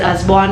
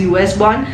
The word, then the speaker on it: Usborne: अब इसको ना बहुत सारे लोग, I think the correct pronunciation is असबॉर्न only, but for some reasons I have always been pronouncing it as US born, and इसलिए हो सकता